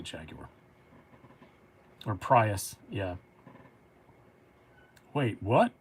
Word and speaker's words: Jaguar: I say Jaguar. Because, I mean, it's from their country, and they say Jaguar, so I say it like that.